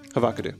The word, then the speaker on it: Havocado: It's so weird that they pronounce it that way. Havocado.